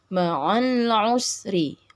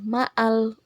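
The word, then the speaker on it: مع: harakat Kemudian yang kedua makhrajul huruf Ain juga pada bacaan mari mari ya ingat Mari bukan maal Usri oke itu saja untuk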